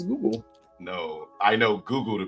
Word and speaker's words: Google: That's just how you pronounce Google. From now on, we pronounce it as Jujul. No, we will not. The Jujul. You can pronounce it as the Jujul. Grown people will pronounce it as Google.